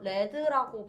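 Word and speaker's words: read: 아 위드도 위드 여기서 레드라고 발음됩니다 여러분. 위드 레드 레드 이렇게.음 음, 빨강 아니고요.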